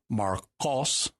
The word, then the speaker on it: Markos: Mark is Markos, and you're pronouncing the Q towards the back of your mouth there, not the K towards the front.